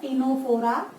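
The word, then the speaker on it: Ctenophora: बोलते हैं, इसके बाद टीनोफोरा, सी यहाँ पे साइलेंट है, टीनोफोरा, ठीक है।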